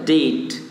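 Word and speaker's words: debt: जी हाँ, ध्यान दीजिए, इसको पढ़ने में लग रहा है कि डेप्ट है क्या, नहीं, इसको बी का यहाँ उच्चारण नहीं होगा, ध्यान दीजिए, इस यहाँ पर केवल और केवल डेट होगा।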